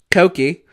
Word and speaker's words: Koki: It's literally pronounced the same as Wokey, but with a W replaced with a K. Koki.